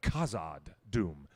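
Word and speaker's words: Khazad-dûm: u h not a k zod but a khazad doom um when you pronounce nevada everybody needs to remind themselves that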